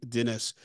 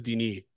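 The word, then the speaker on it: Denis: director's name uh wrong I thought it was D Dennis no he actually says Deni Den V I watched a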